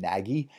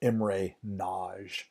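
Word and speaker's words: Imre Nagy: can say his name as I've heard it said in Hungarian his name was pronounced M ray Nagy and why not how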